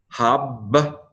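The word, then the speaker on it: הַבְּרָכוֹת: Again, patak is a short vowel which suggests the syllable needs to close. So this has to be a doubling dogish. So the first bait closes the first syllable. That means this has to be a vocal schwa at the beginning of a second syllable.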